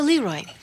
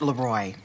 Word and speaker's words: Leroy: So Leroy, actually it's pronounced Leroy. It means the king in French.